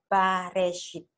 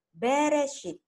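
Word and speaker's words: בראשית: Kalau in the beginning, ini bacanya harus dibaca dengan Bareshit. Tetapi orang Ibrani membacanya Bereshit, in a beginning.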